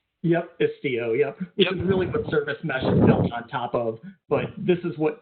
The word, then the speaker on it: Istio: and that's what the sorry, I can never pronounce this right. I'm going to make you do it, Ed, because it's Istio? Yep, Istio, yep.